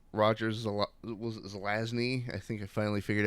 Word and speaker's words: Zelazny: is legion by rogers a lot it was zelazny i think i finally figured out how to pronounce his name but there it that book